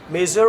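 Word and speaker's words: measure: মেজার মানে কি, মেজার না, জেডের মতো উচ্চারণ হবে, মেজার।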